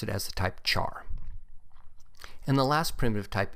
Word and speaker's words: char: pronounce it as type care since it is short for character but i've always pronounced it as the type char and the last primitive